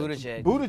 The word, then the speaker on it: Buttigieg: I cannot pronounce this new candidate who's running. It starts with a B. Whatever. But I said, Buttigieg.